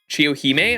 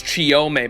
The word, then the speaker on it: Chiyome: Chiyohime? Am I saying it wrong? I ain't touching Achilles, bro. Oh, it's Chiyome, my bad.